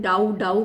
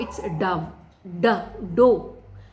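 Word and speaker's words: dough: सा गलत बोलते हैं, डाउ मैंने सुना है, which is wrong pronunciation. इट्स डो. ये रॉन्ग वाले में आपको डव ऐसे मैंने कुछ प्रोनाउंसिएशन सुने which is wrong. The right is डो. ड में ओ की मात्रा और छोटा सा ह, डो.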